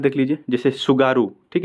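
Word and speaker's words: Tsugaru: हाँ, तो कुछ और इंपॉर्टेंट यहाँ पे देख लीजिए, जैसे सुगारू, ठीक है, सुगारू, यहाँ पे इसको टी से इसकी स्पेलिंग शुरू होती है, तो कन्फ्यूजन मत होइएगा। तो सुगारू है, अगर ये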